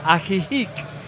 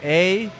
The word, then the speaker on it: Ajijic: It's called Ajijic.